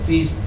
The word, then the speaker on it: feast: Notice EA, EA, EA. Feast. Feast. Feast, feast, east. Okay. EA in this case gets a long E sound.